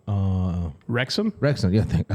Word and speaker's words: Wrexham: teams in Europe uh there's documentaries about um Braxton uh Mr Braxton I'm saying it wrong uh wrexham wrexham yeah I said Braxton uh rexham uh